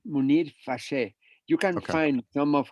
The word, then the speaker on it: Munir: can you say his name one more time munir munir you can find some of his stuff in